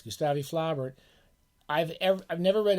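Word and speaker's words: Gustave Flaubert: fans of low bear I guess he's properly pronounced in the French in the French Republic gustavi Flaubert don't let anyone tell you otherwise gustavi flabbert I've ever I've never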